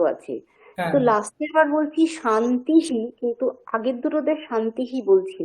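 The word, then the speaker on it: শান্তিঃ: রয়েছে ওই বিসর্গটার উচ্চারণটা বিসর্গের জায়গাতে আরেকটা তালব্য স বসে যায় সন্ধির ফলে তখন একচুয়ালি উচ্চারণটা কি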